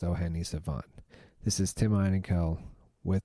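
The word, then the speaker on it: O'hene Savànt: That was O'Hene Savant, his latest album, pronounced O'Hene Savant.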